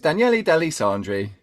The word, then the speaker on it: Daniele De Lissandri: So it's Daniele De Lissandri. Yeah, just kind of blend it all together.